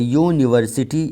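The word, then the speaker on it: university: दोनों के लिए यूनिवर्सिटी अब यहां पर यू से यह लेटर शुरू होता है मगर इसकी आवाज यह कंसोनेंट की तरह नहीं है यूनिवर्सिटी इसकी आवाज वाई की है इसी तरह अ यूरोपियन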